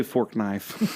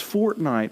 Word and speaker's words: Fortnite: like I was like no I don't play fork knife and they're like they're like no it's fortnite I was like I was like what I